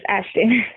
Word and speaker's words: Ashtan: Is this Ashton? Yes, this is she. Did I say it right? Yes. Ashton. Ashton. I have a a son. Ashton is spelled A S H T T O N.